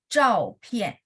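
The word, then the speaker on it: 照片: Jadi Z sama ZH itu bacanya tidak pakai angin. Jadi yang saya bilang bersih tidak ada pakai H. H itu adalah lidah diangkat saja ya. Jadi bacanya zhao pian.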